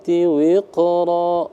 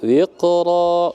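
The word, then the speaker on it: وقرا: Nah, qa itu qalqalah sugro, jadi ringan saja. Jadi sudah pas teman-teman bacanya. Falhamilati wiqra, wiqra qa ya, wiqra qa yang sukun. Jadi maka dia berlaku hukum qalqalah sugro. Tipis ya. Kecil ya, wiqra, begitu.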